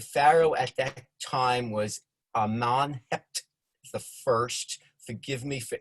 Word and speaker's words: Amenhotep: of egypt the pharaoh at that time was amman hept the first forgive me for any mispronunciations i picked this all up by visiting